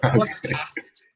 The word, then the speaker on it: Grosseteste: We call it BGU to be easy, but it's Bishop Grosseteste.